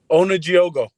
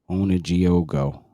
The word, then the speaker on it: Onujiogu: I forgot to ask you, how do you say your name? Ready? Onujiogu. Onujiogu. All right. Yep, that's correct. Onujiogu.